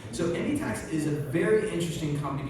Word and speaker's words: Endiatx: So Endiatx is a very interesting company because we've heard